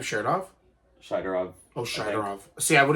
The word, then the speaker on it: Shaidorov: Shaidorov.